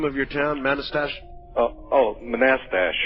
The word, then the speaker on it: Manastash: How do you pronounce the name of your town? Manastash? Manastash. Manastash.